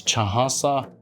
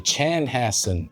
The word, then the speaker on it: Chanhassen: And we actually have uh a city in Minnesota that's mispronounced is Chahasa. It's actually Chanhassen.